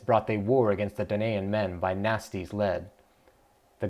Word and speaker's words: Danaan: Some places write it as Danian, but I don't think that sounds right to me.